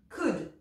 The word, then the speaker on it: could: muet notamment quand c'est avec O l d comme ça comme le mot ici qui exprime la possibilité qu'on a déjà vu could je n'entends pas le L C également parfois quand